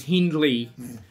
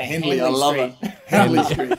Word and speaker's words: Hindley: know I think we've the most mispronounced is Hindley yeah Emily in Vegas my guys in Vegas sometimes they call it handily finally very much more